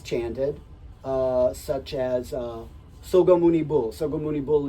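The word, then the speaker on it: 석가모니불: Sogamuni Bul is the Korean pronunciation of the name of Shakyamuni, of the historical Buddha.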